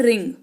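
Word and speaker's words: wring: अंग्रेजी जो होती है वह होता है रिंग व आर आई एन जी लेकिन इसका उच्चारण रिंग होता है ठीक है मैं तुम्हारी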